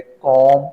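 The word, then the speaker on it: comb: पे W silent है कॉम इसमें ब साइलेंट है रिसी इसमें पी साइलेंट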